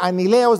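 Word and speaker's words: ἀνέλεος: significa a mi lejos se pronuncia a mí le os del griego y significa y se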